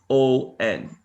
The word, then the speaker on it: question: Now, if your child wrote this word, and let's say they wrote the word Question. So as you notice, the U is not very pronounced in the word question.